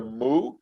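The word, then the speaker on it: Moo: of them was the mu no m-o-o-o like a cow yes m-o-o yeah uh yeah it's about as bad as you know i wish i was joking um rhymes with boo it's a wisconsin cliche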